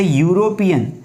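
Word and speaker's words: European: जैसे यूरोपियन, तो ये यति का यह आ रहा है यहाँ पर।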